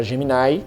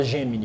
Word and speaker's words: Gemini: emplacar isso, não pegou porque o I em inglês não tem essa pronúncia. E aí meia dúzia de besta igual eu fica falando geminai porque eu acostumei lá no início, mas pode falar gemini.